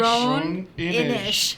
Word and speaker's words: Roan Inish: Roan Inish. There you go. Roan Inish. Say it like the Roninish.